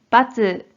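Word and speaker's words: 閥: 자 뜻으로는 발음이 없고 음으로만 빠쯔 빠쯔라고 발음해줘요 그럼 대표적인 어휘부터 소개해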